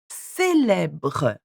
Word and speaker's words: célèbre: Et, célèbre, célèbre.